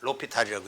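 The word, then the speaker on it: L'Hôpital: 그러니까로 로라는 것은 이제 아 정관사예요. 정관사로 여기 아포스트로피 있어요. 로피탈스 정리어럼 이렇게 말하는 건데 영어 발음문은 이제 호스피탈인데 로피탈이라고 해요.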